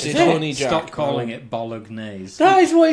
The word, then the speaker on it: Bolognese: Pronounce the G. Oh yeah. It's a silent G. It's not. It's not. It's Bolognese. The G. The G is not silent in Bolognese.